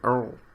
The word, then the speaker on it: Urgil: My name's Urgil. The G is silent, so Earl.